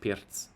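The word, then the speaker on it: Pirc: And then the Pierz, it's actually pronounced Pierz. In the Pierz, I have a very nice plan to go on f5 because of this knight that's preventing this bishop here.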